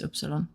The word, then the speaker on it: Upsilon: No, you're right. It's it's oopsilon. Yeah.